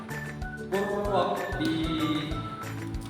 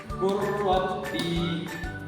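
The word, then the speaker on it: قل رب: Untuk contoh bacanya adalah Qurrabbi. Sekali lagi, Qurrabbi. Pada ayat ini terdapat tanda sukun lam yang dilewati karena adanya tasydid.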